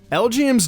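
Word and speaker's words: Elgyem: would be so proud L GM's name origin is pretty neat the way it's pronounced spells out lgm stands for Little Green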